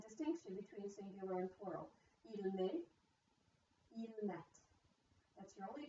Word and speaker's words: met: So you're hearing the T's in the plural form, but you are not hearing the T in the singular form. This is the distinction between singular and plural. Il met, il met.